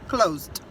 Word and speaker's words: closed: Então, passado eu boto ED, mas aí eu pronuncio só com D, closed.